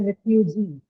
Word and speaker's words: refugee: So in refugee, the syllable G carries a long vowel E, so we marked it as the stressed syllable.